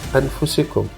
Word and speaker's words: أَنفُسِكُمْ: cuyo título Aclaración del significado de la palabra anfusicum, que en español se pronunciafusicum.